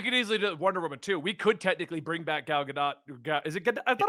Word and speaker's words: Gadot: like we've been saying Godot because we're conditioned to say that OT is pronounced oh because we are Americans and have been influenced